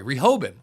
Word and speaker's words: Rehoboam: Sorry, Rehoboam. I think that's actually how you say it.